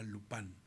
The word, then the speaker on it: Lupin: la serie de Netflix se llama Lupin, pero que se pronuncia Lupán.